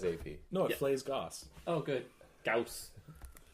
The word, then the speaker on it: Gauss: flays Gauss. Oh, good. Gauss. Rhymes with Gauss. house. Gauss. Gauss. Mouse. Gauss. Dr. Seuss? Gauss. Gauss. You know what? It's English. It's not have English, I said, it's German.